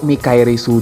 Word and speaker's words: Michaelis: CFK029 Michaelis atau Mikairisu dalam pelafalan Jepangnya adalah mobil suit yang muncul di seri Gundam The Witch from Mercury pada episode 9 dan dipiloti oleh Shaddick Zanelli.